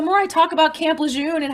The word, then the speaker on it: Lejeune: was the camp called oh camp lejeune um l-e-j-e-u-n-e i think how does this camp lejeune hang